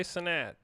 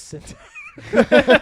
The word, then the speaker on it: Cenat: Kai Cenat. Kai Cenat? Is Yeah. it Sinat or Sintat? It's What is Sinat. it? Cenat. I always thought it was Sintat.